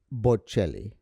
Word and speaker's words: Bocelli: Bocelli? It's Bocelli.